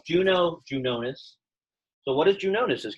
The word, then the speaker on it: Juno: Let's not pronounce the weird Latin J. Let's just say Juno. So it's Juno, Junonis.